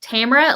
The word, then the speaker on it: Tamara: I always tell people my name's pronounced Tamara like camera.